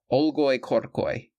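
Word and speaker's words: olgoi-khorkhoi: it I promised to produce the aloro corai oloy corcoy that's how it's pronounced gang if we chance to cross its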